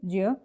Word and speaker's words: ज्ञ: वैसे तो इसका उच्चारण होना चाहिए ज्य, लेकिन इसका उच्चारण ज्ञ की तरह ही होता आया है। शुद्ध उच्चारण वैसे इसका ज्य होता है, लेकिन ज्ञ उच्चारित करते आए हैं तो इसलिए यही चल गया है।